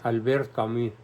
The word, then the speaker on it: Albert: c ams Albert camus pronunciación Albert porque es francés y él en su